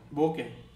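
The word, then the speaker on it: bouquet: প্রেজেন্টেশনের সময় দেয় না কারোর বিয়েতে বা কেউ কিছু সাফল্য লাভ করলে, সেটাকে বলা হয় বোকে। ওকে, বুকে, বুকে এরকমও বলে।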